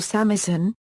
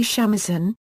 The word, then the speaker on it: shamisen: the shamisen or samisen also called sangjun is a three stringed japanese